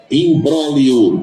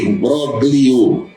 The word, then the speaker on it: imbróglio: Imbróglio, tem o G, imbróglio. O G desaparece, fica imbróglio.